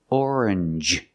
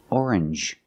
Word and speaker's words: orange: very good usually when when you see NG G it makes the N sound like orange or exchange you make the n Sound not the nasal sound just n and the J like juice JJ together orange orange or exchange change or